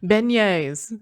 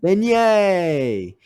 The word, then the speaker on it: beignet: up with a Now, I couldn't say this word all weekend. It is the pastry that is famous in New Orleans. Beignes. Beignet. Yeah. I I had some horrid pronunciations throughout the weekend.